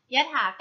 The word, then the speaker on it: ยถากรรม: ว่า ยถา กรรม ยถากรรม อ่าน ว่า ยถา กรรม ยะถา การ ประกอบ ไป ด้วย ยอ ยักษ์ ขอ ถุง สระ